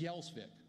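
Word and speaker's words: Gjelsvik: given name wasn't thune it was yellsvik it was spelled g-j-e-l-s-v-i-k a lot of consonants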